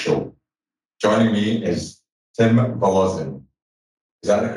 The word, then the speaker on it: Woloszyn: Joining me is Tim Woloszyn. Is that the correct pronunciation? That is close enough, brother. Woloszyn.